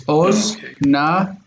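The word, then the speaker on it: אָזְנַיִם: And so this syllable is going to break right there too. So it's oznaim. Oznaim. Oznaim. And this means ears. Oznaim. A lot of these cases, you're going to learn how to pronounce a word once you get to know the word. Once you know that ozen means ear, when you see oznaim, you're going to know that that's a O.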